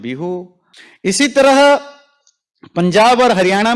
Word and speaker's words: बिहू: इसी तरह आसाम में इसको रंगोली बिहू, आसाम में सा को हा उच्चारण किया जाता है, जैसे आसाम को अहोम, हा तो नहीं, थोड़ा हाफ हा, तो विशु को बिहू ऐसे बोला जाता है।